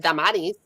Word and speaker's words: Damaris: But I happen to have a very old name, Damaris, or my mom, as my family pronounces it, Damaris.